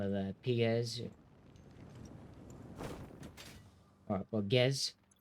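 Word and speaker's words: Pgez: Well, Gez, spelled with the P.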